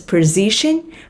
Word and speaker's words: position: Những cái kỹ năng nào do you bring to this position mà bạn nghĩ là nó sẽ hợp ở cái vị trí này? Position, nhấn âm 2 mọi người nha.